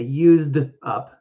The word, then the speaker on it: used: In past tense, we'd say used up, not used or used. No, we would actually say the D sound because it ends in a vowel Z, like a Z.